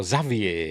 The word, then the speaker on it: Xavier: story cuz you know the name Xavier is pronounced you know either Xavier or Zavier is it? That's the the usual way to pron I've never heard it pronounced Xavier except in this.